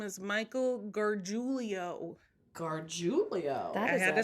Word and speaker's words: Gargiulo: His real name is Michael Gargiulo. Gargiulo. I had to spell it out how I say it because I couldn't.